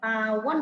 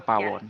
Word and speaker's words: Pawoon: Pawon ya bacanya ya, Pak Roland ya? Iya, betul sekali Ibu Tri, Pawon.